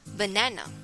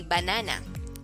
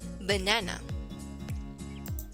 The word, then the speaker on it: banana: next syllable is stress the syllable na so you're going to say it as banana banana so don't say banana it should be banana let us now discuss